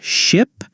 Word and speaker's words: ship: First, let's work on ship and sheep. Ship, short I sound.